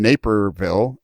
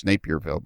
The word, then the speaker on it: Naperville: used to be in naperville illinois and i thought for 20 years it was napierville but that took me 20 years to learn how to pronounce it